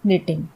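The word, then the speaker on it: knitting: लेकिन एक्चुअली में ये के से होता है निटिंग। वैसे ही सैम में पी बिल्कुल साइलेंट है।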